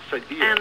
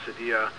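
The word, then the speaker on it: Cydia: mentioned something called cyia Cy d i a Sadia I think is how it's pronounced all right I'm not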